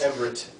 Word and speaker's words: Everett: It's Everett.